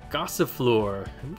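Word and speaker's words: Gossifleur: all right now I have another grass pokemon gossip floor that's how you say it and we're gonna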